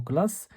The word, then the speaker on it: classe: Donc la lettre C se prononce C, sauf le mot classe. Le mot classe, dans le mot classe, la lettre C se prononce K.